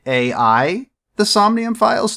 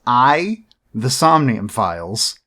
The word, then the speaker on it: AI: The Somnium Files: may read the title and think isn't it a.i the somnium files no it is pronounced i the somnium files we'll get into why in a bit it